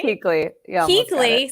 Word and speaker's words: Kuechle: Keekley. You almost got it. Keekley, still got it Keekley.